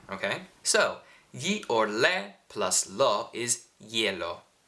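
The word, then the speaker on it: glielo: so or plus is yellow yellow think of like you're trying to say yellow but you're saying it with somewhat of an Italian accent y or Le plus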